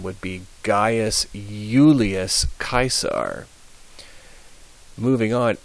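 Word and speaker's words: Caesar: uh his full name would be gas Julius kaisar moving on H uh always H um as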